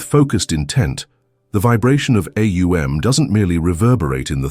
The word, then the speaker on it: Aum: Aum, not Om, as it's casually uttered, but Aum.